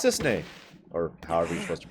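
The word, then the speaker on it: Cissnei: you're a Turk too I'm Sis Sis that's how you pronounce it I'm Zach pleasure to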